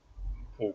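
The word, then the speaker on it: Poole: Um, but it's interesting that this part of the world is called Paul. So Bournemouth Paul B O O L E phonetically the same as Paul and uh but they're walking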